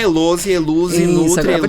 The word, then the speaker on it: Helouse: Então, é Eluze, né? Escreve Elose com H e pronuncia-se Eluze.